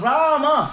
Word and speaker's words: Rama: Why the word Ram has 2 syllables?